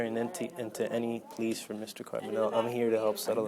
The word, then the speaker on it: Carbonell: The thing is, Am I saying the name right? Carbonero? well, I think you pronounce it Carbonell.